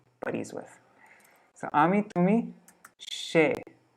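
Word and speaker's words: সে: So Ami, Tumi, She. It's, you see it's an S, but in Bengali it's pronounced She.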